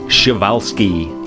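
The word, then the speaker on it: Przewalski: netherlands forgive my pronunciation and speaking of our pronunciation chevalski is how you pronounce the horses i've finally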